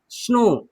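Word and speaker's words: snow: ओ डब्ल्यू तो डब्ल्यू को silent कर दीजिए। क्या कर दीजिए? डब्ल्यू को साइलेंट कर दीजिए। और इसका उच्चारण ओ होता है। For example S एन ओ डब्लू। अच्छा इसको डब्लू को मिटा देते हैं। आप पढ़िए क्या लिखा है? स्नो अद स नो स्नो लेकिन डब्लू है तो डब्लू क्या है?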